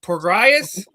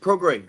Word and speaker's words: Prograis: Is it Regis Prograis? Nope, you butchered it. Prograis. Regis Prograis.